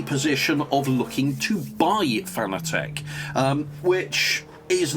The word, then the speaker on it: Fanatec: That's how I pronounce it anyway. I know some people call it phonetic. I don't know. I'll call it Fanatec. Can't pronounce it any other way myself, but there we go.